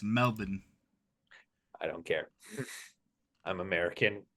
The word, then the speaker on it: Melbourne: It's spelled Melbourne, but it's Melbourne.